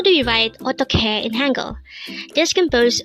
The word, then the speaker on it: 어떡해: This is pronounced as a 3-syllable word. The first syllable is o, second syllable is tok, and third syllable is he. Pronounce it with me. 어떡해, 어떡해.